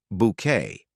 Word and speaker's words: Bucket: ambitious Hyacinth Bucket who insists their surname is pronounced bouquet unlike hin Richard is